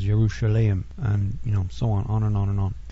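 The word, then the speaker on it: ירושלים: Jerusalem is Yerushalayim, and so on and on.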